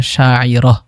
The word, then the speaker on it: শায়রা: ২৫ নম্বর নামটি শায়রা, যার অর্থ কবি, এবং এটা যদি আরবি শুদ্ধ উচ্চারণ করি তাহলে হবে শায়রা।